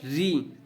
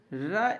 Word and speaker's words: ऋ: संख्या 10 होती है ऋ का वर्तमान उच्चारण र ई री होने लगा है अतः इसका उच्चारण करते